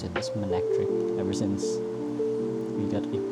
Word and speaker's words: Manectric: I think it's Manectric. Yep. I pronounce it as Manectric ever since.